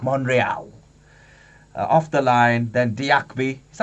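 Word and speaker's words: Diakhaby: Off the line, then Diakby. Is that how you say his name? Diakabi.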